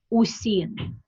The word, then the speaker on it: Wuxing: I know in Russian it's pronounced usin, but in English it's spelled WUXING. I think this is, let me double.